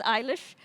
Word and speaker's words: Eilish: And I think when we read the book, many of us might pronounce it as Eilish, but our author pronounces it Alish, so that's what we're going to see. It depends what part of Ireland you come from.